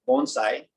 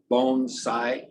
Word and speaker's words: bonsai: It's bonsai, not bonsai, and not bonsai. It's a bon like bon voyage, or bon appetit, or bonne nuit, or bonjour, or for you who are kitchen workers, mon ami.